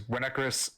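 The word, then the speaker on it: Vinnekrus: Yeah, that is Winnekrus, pronounced with a W, spelled with a V.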